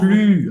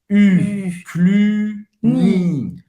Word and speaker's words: Cluny: Cluny, ok, pronúncia. Boca do U e fala I. Cluny. Cluny, o Y tem som de I em francês.